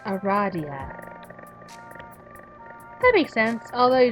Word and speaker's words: Aradia: that love because she immediately corrects you is pronounced Aradia that make sense although you just met you